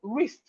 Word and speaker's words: wrist: We have wrist. Wrist, the W is silent.